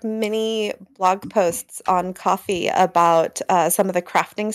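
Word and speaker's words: Ko-fi: called Kofi or Kofi do you know how they pronounce it coffee oh they just say coffee there's a coffee cup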